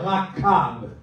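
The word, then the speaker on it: רכב: En hébreu, ce verbe est prononcé comme ça, rakab.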